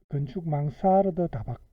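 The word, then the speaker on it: Mansarde: 건축 망사르드 다락방, 꺾인 지붕의 고미 다락, 프랑스의 건축가 이름에서 유행. 그러니까 이게 프랑스어에서 왔기 때문에 독일어식으로 발음하면 안 되고 망사르드 하는 게 맞겠다, 그죠?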